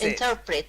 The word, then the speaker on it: interpret: interpret I'll interpret bass interpret yeah that's it okay so the stress is slightly different it's on the second syllable inter and then Pritt interpret okay oh yeah baby needs